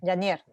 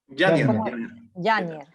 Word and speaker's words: Yáñez: Yanier. ¿Yáñez Sí. o Yanier? Yáñez. Ah, ya, entonces yo he pronunciado todo el tiempo mal y nunca me has corregido.